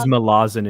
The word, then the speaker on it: Malazan: It is Malazan is the correct pronunciation that everybody but I'm ignores.